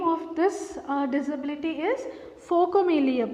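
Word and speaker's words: phocomelia: a rare occurrence called focomelia the name of this uh disability is focamelia pronunciation listen observed this pronunciation of this world folk amelia okay and nick and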